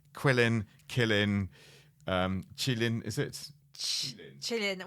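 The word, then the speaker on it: Qilin: most importantly ana um working out how to pronounce quillin kilin um Chillin is it Chillin well I think g g knows best Chillin yeah I think so yes all right so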